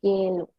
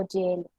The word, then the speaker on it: gelu: Aquí vemos que no hay una U entre la G y la E, y aún así se debe de pronunciar gelu. No gelu o yelu.